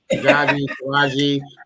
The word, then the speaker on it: Taraji: Taraji, Beyonce, Chiquaqua.